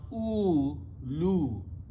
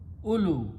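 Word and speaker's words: أولو: Vow is not pronounced, so we put a little circle, and only alif and lam and waw are pronounced. So don't pronounce oo, lu. The waw is not supposed to be. Ulu.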